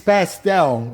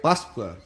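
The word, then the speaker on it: Páscoa: Eu falo Feliz Pastel, and pastel is something you eat. So he's like, is that right? Pasqua.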